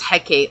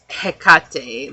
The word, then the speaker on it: Hecate: Hecate. And for a long time, I thought it was Hecate. Like, I really thought that's how you pronounce her name.